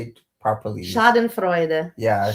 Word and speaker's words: Schadenfreude: Schadenfreude. Yeah, Schadenfreude.